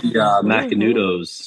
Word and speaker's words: Macanudo: Like Macanudos.